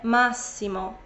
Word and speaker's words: Massimo: w turbomap rok kolejny imię to nie Massimo ale Massimo Massimo żebym rolę Włoszki